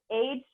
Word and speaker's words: Hushed: You spell that HUSHED. Okay, so that's an app called Hushed. Like Hush. And that's an app.